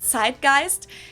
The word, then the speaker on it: Zeitgeist: Hamburg usually say Zeitgeist in German we pronounce it tight gist and this consists of